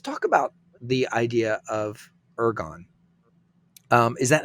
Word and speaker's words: ergon: let's talk about the idea of ergon. Is that how, am I pronouncing that correctly?